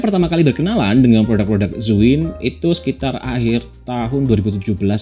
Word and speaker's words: Zhiyun: Yap, emang gitu bacanya, Zwiin.